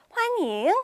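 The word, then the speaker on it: 欢迎: 말과 굉장히 유사해요 발음이 대신에 환영이라고 하지 않고 환잉이라고 해 주셔야 돼요 영이 아니라 인이다이 인자 기억을 해 주시면 될 거 같아요 자 환영합니다 할 때요 환잉 하시면 되고요 당신을 환영합니다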